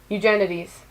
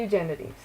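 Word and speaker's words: Eugenides: looked up how to say his last name eugenities there we go Jeffrey eugenities and yeah so I really like that book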